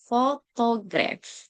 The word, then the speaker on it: photograph: longer than unstressed ones for example photograph stress on fable photograph versus photographic stress on third syllable longer duration there next